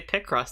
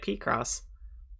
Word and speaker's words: Picross: know why it's cuz the last time I heard someone say picross they pronounced it like PR cross anyway fans of this